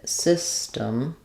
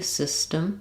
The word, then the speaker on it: system: And then I'm going to write the the T here as more of a D. Um, we're not really using system with a strong D. System system. Um, but it's basically an unaspirated T that we use there.